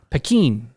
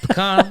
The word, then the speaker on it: Pekin: Pekin. I still don't think that's how it's said. It may not be. I don't Peckin'. know. Pekin? Like pecan.